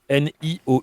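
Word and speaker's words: Niou: New N I O U. Nio, c'est un O long quand il y a un U derrière un !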